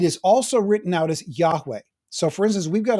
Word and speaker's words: Yahweh: Yahweh is the best understanding that we have about how I am who I am, YHWH, should be pronounced.